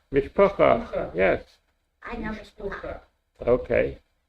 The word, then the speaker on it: mishpacha: Yeah, Ah, Mishpucha. Mishpacha, yes, I know Mishpucha.